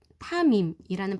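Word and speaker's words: תמים: 흠 없다, 타밈이라는 발음이 나는 히브리어로 그런 단어인데, 온전하다라는 뜻이에요.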